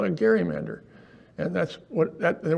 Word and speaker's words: gerrymander: we'll call it a Gary Mander and that's what that the word stuck what has changed of course is Across the Nation it's a soft G not a not a hard hard G but it's named after